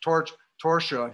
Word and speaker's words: Torchia: But he and his best friend, Antonio Torchia, which I'm told is pronounced Torsha here, Antonio Torchia and my grandfather left together in 1914 and they came to Long Branch.